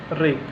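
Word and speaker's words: wreck: इसमें देखिए आपका डब्लू साइलेंट है, रैत, रैप, रेक।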